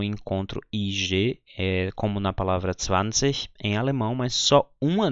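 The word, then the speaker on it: zwanzig: Existe também o IG no final de palavra pronunciado com som de K, então as pessoas falariam 20.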